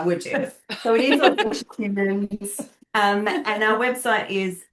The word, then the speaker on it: AuDHDcious: But then we never pronounce it as that because why would you? Because why would you? So it is AuDHDcious Humans.